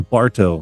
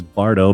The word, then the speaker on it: Bardo: He makes sure that he thought I called him Barto. No, I know it's Bardo, Bardo.